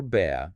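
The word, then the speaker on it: ب: For the letter ba, the source explicitly states it is pronounced from the wet part of both lips. It draws a comparison to the English B as in the word bat.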